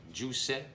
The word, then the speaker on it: Jousset: You know, with all due respect to Kevin Juicet, that's how you say his name.